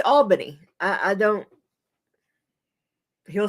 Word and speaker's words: Albany: It's pronounced Olney. And there's an Albany. Ryan will get that one wrong every time. It's Albany.